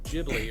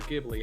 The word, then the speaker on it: Ghibli: the main ones that i really enjoyed studio ghibli or ghibli however you want to pronounce it i've made two games it's the